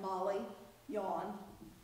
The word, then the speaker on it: Molly yon: you just say like Molly yon is the Abenaki pronunciation of the name Mary the Abenaki do not have that are sound in their ordinary the vocabulary and Jeannie brick who